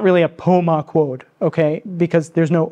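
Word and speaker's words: Pemaquid: And as I said earlier, the stress is on the third to last syllable in most Wabanaki languages, which is why I sometimes say Abenaki. So Pomaquod, not Pomaquod, or Pom, okay? So Pomaquod, if that helps.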